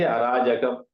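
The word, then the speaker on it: அராஜகம்: In Tamil, we say Arajakam. Huh? Only pronunciation differs. Huh? Here in Sanskrit, it is Arajaka.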